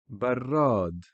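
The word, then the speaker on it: برّاد: So we have one ra instead of two, but the shadda is the symbol that tells you that this is to be pronounced twice.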